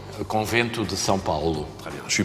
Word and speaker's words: Convento de São Paulo: Comment on prononce couvent de São Paulo? Convento de São Paulo.